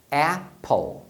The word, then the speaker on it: apple: Por que na palavra table o A é pronunciado com som de A e na palavra apple o A é pronunciado com som de E?